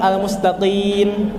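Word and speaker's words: المستقيم: 6 yakni ketika pengucapan almustaqim almaqim di sini pakai qf bukan pakai Kaf bukan mustaqim tapi mustaqim cirinya dia pakai Kaf atau qf adalah ketika menyebutkan mustaqim kalau keluar nafas itu pakai Kaf mustaqim kimah salah ataupun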